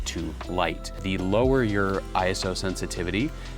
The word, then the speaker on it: ISO: It's actually pronounced ISO, which comes from a word isos, but I am just stuck saying it ISO.